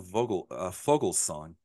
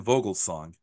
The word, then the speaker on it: Vogelsong: The V's are pronounced like F's, I found out, and you can't tell me otherwise.